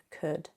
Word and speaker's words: could: Although all of these modal verbs contain an L, the L is not pronounced. It is silent.